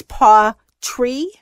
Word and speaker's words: pawTree: a cat okay and I was saying it wrong it's Paw tree yes what types as